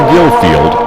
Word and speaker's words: Gillfield: The name originally was Gift Field, but the pronunciation gradually changed to Gillfield as it's known today.